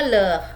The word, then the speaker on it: leurs: Leurs itu tambah S, tapi dibacanya leh ya, tetap S-nya tidak dibaca ya.